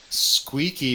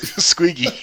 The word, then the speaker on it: Squiggy: out Lenny or squeaky squeaky because you keep mispronouncing it Squiggy what is his name